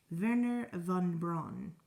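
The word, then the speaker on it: Wernher von Braun: Werner von Braun.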